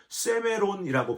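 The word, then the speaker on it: σήμερον: 여러분, 여기서 이 오늘이란 단어가 헬라어로 세메론이라고 발음을 하는데요.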